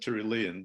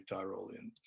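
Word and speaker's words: Tyrolean: uh tara tyrollians uh which actually should be termed tirulean but uh the the wyoming pronunciation seems to be tyrolian uh so it says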